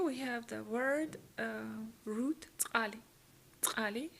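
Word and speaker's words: წყალი: Here we have the word root tsali. Tsali. It's a quite difficult word to pronounce because you have those tsa syllables, but just try and don't be shy.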